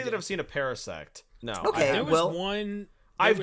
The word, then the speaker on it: Parasect: a very interesting pronunciation normally the pronunciation would be Parasect um but essentially yes